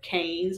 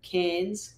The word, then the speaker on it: Cairns: That, like, I feel like Americans pronounce it as, like, Cairns or Cairns. I haven't known. How do you say it? Cairns. Cairns. Like a can of beer.